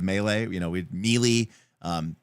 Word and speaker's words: melee: This is back when we pronounced it like me instead of melee.